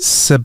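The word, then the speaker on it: Sadhbh: like how can they be the same word sair sair what you going for sair sair sair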